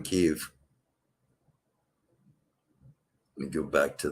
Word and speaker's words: Kyiv: I pronounced it Kiev for so long, it's hard to get in the habit of saying Kyiv.